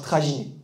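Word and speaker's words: traginer: En Catalogne, comme vous l'avez déjà entendu sûrement, le mot voiturier, on peut le traduire par traginé. Donc le R ne se prononce pas.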